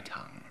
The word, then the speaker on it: tongue: Today it rhymes with sung.